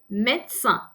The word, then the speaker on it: médecin: Médecin, médecin. So the first E is pronounced because of the accent, but the second one in the middle is silent. Médecin. So it's actually two syllables.